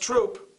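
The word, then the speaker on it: Throop: This is pronounced Troop, even though there's a H in it.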